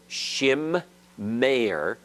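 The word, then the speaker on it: שִׁמֵּר: So that in the word here, shim, meir, there are two mems that must be pronounced.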